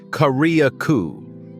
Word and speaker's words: Carriacou: At number nine, we sail south to a drowsy little island pronounced Carriacou, part of the nation of Grenada, yet feeling a world apart.